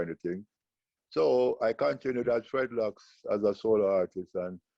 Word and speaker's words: Fred Locks: So I say, you know what, I'm going to call myself Fredlocks, because I rhyme with dreadlocks. So I name myself Fredlocks instead of Melancholies.